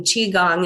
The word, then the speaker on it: qigong: giles spelling is c-h-i separate word g-u-n-g um qigong is how we pronounce it and she had been practicing with